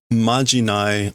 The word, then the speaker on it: まじない: Before departure, one majinai let's do. Let's do one majinai. One charm, incantation, spell, magic formula. Oh, it's like noroi, but it's a different pronunciation. Majinai.